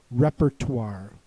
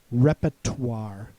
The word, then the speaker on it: repertoire: This is repertoire. Um, I can also pronounce it repertoire in which the R in the middle of the word becomes silent.